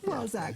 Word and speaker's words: Walczak: How is it that you pronounce it? Walczak's good. Walczak, yeah.